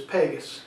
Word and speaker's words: Pegas: of this scroll so the correct pronunciation of the brand is Pegasus PD GA s now the model number